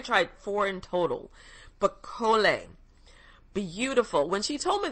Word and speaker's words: Collet: And you spell it C-O-L-L-E-T. And I hope I'm saying it right. I'm sure I am, because in French, you don't pronounce the T. Collet.